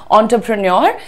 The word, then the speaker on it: entrepreneur: Enter लिखा है नहीं, ये जो लिखा है ना दैट इज ऑन्ट्रप्रनर, ऑन्टरप्रनर। ठीक है, प्रेन्योर भी बोलना चाहो तो इंडियन एक्सेंट में आता है वो, आप बोल सकते हो ऑन्टरप्रेन्योर, लेकिन more accurate pronunciation is ऑन्टरप्रेनर, ऑन्टरप्रेनर, right, ऑन्टरप्रेनर।